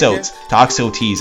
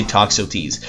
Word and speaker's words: Toxotes: too te I think I've been getting lots of comments correcting me of how to pronounce it and they say toxo teas so making lots of